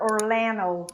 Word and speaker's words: Orlando: that is orlando orlando in american english you will hear orlando because this d is cut out so we say orlando but what you're gonna hear is orlando orlando that's what people will say all the time right florida florida florida